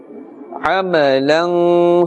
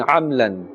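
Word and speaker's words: عَمَلًا: manner, shadidun, Azabun shadidun, Qawman ghayrakum, Qawman ghayrakum, Amalan salihan, Amalan salihan. Remember that meme, ama, that meme must be pronounced clearly. Amalan. If we say too fast, sometimes it seems like we're saying amlan, amlan.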